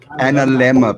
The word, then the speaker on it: analemma: It's analemma, people. Analemma. Now we know. Sounds like a dilemma.